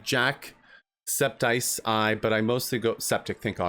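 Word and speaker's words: jacksepticeye: Raiders and everyone jumping in with us it's pronounced like Jack septice I but I mostly go septic thank God thank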